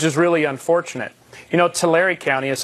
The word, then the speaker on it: Tulare: we took which is really unfortunate you know Tulare County is how it's pronounced actually but the Tulare County we are